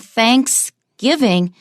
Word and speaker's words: Thanksgiving: both pumpkin pie and thanks giving the stress is just on giving let's go through the